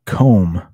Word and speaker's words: comb: actually worked yeah adriana exactly like comb the um the very rare silent b uh but comb and